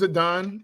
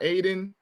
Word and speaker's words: Adon: out to Adon uh his name is Adon not Aiden not um addin is Adon Adon Schuler um please say his